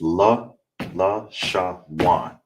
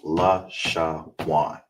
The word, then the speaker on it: Lashawan: All right, and together it's la, sha, wan. All right, because the wa, you understand, and the na is together, so it's pronounced la, sha, wan.